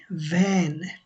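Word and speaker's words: vän: আমরা শিখেছিলাম ডে ওয়ানে যে যখন এর উপরে দুই ডট থাকে তখন উচ্চারণ করা হয় ভ্যান এনভ ফ্রেন্ড দিয়ে কি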